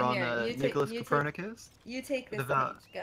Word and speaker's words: Copernicus: Guys, how do you pronounce these names? Wait, where are Nicholas we? Copernicus.